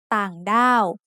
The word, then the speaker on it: ต่างด้าว: a low tone, and the rule for ไม้โท is middle class consonants with ไม้โท make a falling tone. So we can see that ต่างด้าว should have a low tone for the first syllable and a falling tone for the second syllable.